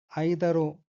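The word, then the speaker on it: 間: 아이다는 그 이렇게 한자가 한글 하나의 글자로 단독으로 쓰일 때는 발음을 아이다로 합니다. 사이라는 뜻이죠. 직간 같이 시간 이럴 때는 간으로 읽고요.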